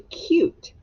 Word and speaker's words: cute: Now let's change it to cute. Cute. Cute. Cute. Cute. And what's on the end? Silent E.